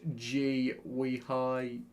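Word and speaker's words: Guéhi: It's pronounced G-we-hi.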